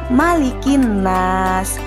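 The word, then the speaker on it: مَلِكِ النَّاسِ: di ayat kedua malikinnas ingat ya anak-anak huruf mim yah tidak boleh dibaca panjang misalkan malikinnas itu bukan yang benar adalah malikinnas malikin Enas anak-anakku juga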